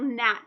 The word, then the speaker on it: gnat: word like a little gnat flying around if you see a GN together you're only gonna hear that n sound so the G like in the word gnat you write that down the